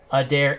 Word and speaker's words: Adair: i'm sorry same thing we got a pronunciation person in the chat jerry a dare happy adair adair not much difference is there for hl manic is